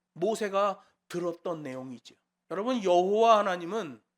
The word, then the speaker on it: 여호와: 여러분, 여호와 하나님은 그 이름을 발음할 수가 없어요. 원래 우리가 여호와라고 하잖아요. 영문으로 이니셜을 쓰면 YHVH예요. 발음할 수가 없어요. 근데 거기다가 주님이라는 아도나이의 모음을 따서 붙여 여호와라고 부르는 거죠.